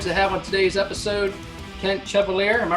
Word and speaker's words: Kent Chevalier: It's my privilege to have on today's episode Kent Chevalier.